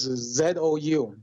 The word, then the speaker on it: Zou: His last name is Z-O-U.